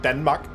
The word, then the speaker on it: Danmark: In Denmark, we spell Denmark instead of the E in the beginning, it's with an A, and it's pronounced Danmark.